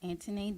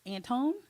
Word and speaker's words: Antoinette: name is Antoinette. Anthony. Antoinette. Anthony. But the Mm-hmm. way it's spelled, people look at it like it's Antone.